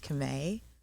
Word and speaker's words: Camai: Just to start, because everyone always asks me how to pronounce my name. Yeah. It's Camai.